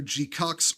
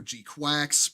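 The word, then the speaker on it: GQuuuuuuX: Uh Gcucks. It's spelled GQ. GQ with like sick U. GQ. Uux. People call it either Gcucks or G Quacks, like whatever, because that's just easier to say.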